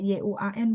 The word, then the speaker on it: 员: 我们雇佣到好的员工，员工nya pakai YUAN Bu. 员工, ini, apa namanya, pininnya gitu. 员工 bukan YEN. Nggak ada, bahasa Mandarin nggak akan ada YEN, pininnya. Yuan, YUAN, GONG.